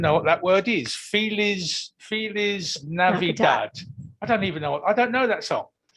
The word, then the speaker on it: Feliz Navidad: Keith, it's pronounced Feliz Navidad.